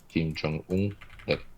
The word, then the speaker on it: Kim Jong Un: Of course, both Kim Jong Un. That is the right pronunciation of in English.